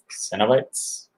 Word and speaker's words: Cenobites: Cenobites. Yeah, because it kind of sounds like Cenobites, like Cinnabon bites. Cenobites. Cenobites. Cenobites. Oh, okay. It's just a video of us saying this word. Cenobites.